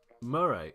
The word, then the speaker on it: Moray: know Tanner 2k in the chat sorry is pronounced Marie Marie sorry I am Cornish Marie patty Murray